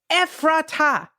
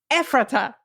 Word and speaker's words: Ephrata: It's Ephrata. Ephrata. Emphasis on the first syllable. Ephrata. Ephrata.